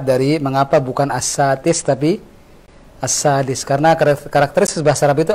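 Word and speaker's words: السادس: Kalau antum baca as-sadis dengan as-satis, mana yang lebih ringan di lisan? Dal, pakai dal, as-sadis. As-satis agak berat.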